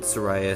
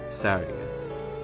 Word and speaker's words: Saria: It's not Saraya, Saria, or anything else. It's Saria.